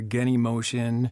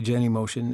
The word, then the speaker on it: Genymotion: as the emulator now there's some competing pronunciations out there getting motion whatever I just say Jenny motion and you can say it the way that you want Now Android Studio emulators